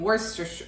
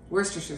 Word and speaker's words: Worcestershire: cup of salsa, some lime juice, and some Worcestershire. Oh, I said it wrong. I'm going to start over. Don't make fun of me. Worcestershire sauce.